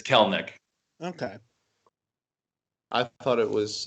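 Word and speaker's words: Kelenic: yeah he wants the he wants the world to know it's kel nick all right i just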